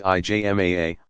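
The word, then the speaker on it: ijma: or to the consensus yzma pronounced IJ MAA of legal scholars but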